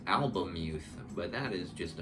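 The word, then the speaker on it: Albemuth: by Philip K dick I kept pronouncing it alth which is wrong because the L is before the E so I think it's album youth but that is just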